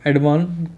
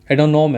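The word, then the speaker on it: Adhanom: वो है doctor Tedros एडवान नाम है इनका, डॉक्टर टेड्रोस एडवान एडहानोम करके नाम है, प्रोनाउंसिएशन में दिक्कत होती है, एडोनॉम है, ठीक है, डॉक्टर टेड्रोस एडोनॉम नाम है इनका।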